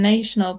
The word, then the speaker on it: national: No, like you say nation, but when it has the letter A and L, then it's national.